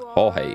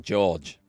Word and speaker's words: Jorge: I would have pronounced that George. I just thought it's a different spelling of George.